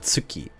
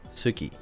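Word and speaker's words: 好き: No, not Tsuki. Suki.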